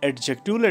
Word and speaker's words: adjective: call it adjectives but we must not call it adjectives here D remains silent silence okay fine let's